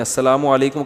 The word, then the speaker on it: السلام علیکم: اور صلی اللہ علیہ وسلم کا صحیح تلفظ بتا دیں. السلام علیکم کا ہے السلام علیکم.